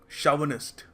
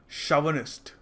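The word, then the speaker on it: chauvinist: तो इसको देखो सही तरीके से प्रोनाउंस करने का तरीका है शावनिस्ट, शावनिस्ट, ठीक है।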